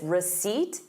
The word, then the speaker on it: receipt: So, notice receipt, you have the word seat in it.